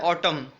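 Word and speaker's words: autumn: इसी तरह आप बुक में जाएंगे, नेक्स्ट आपके पास वर्ड है ऑटम, ठीक है, AUTUM, इसमें भी आपका एन साइलेंट है, तो आप इसको भी जाकर एन के कॉलम में लिख देंगे, मैंने नहीं लिखा हुआ।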